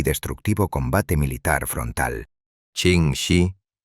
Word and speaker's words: Ching Shih: Ching Shih, pronunciado Ching Shi, conocía cada traicionera corriente